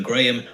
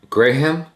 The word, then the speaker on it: Graham: Stephen Graham? I thought it's Stephen Graham. Graham. Graham. I thought it's just Graham, like graham crackers.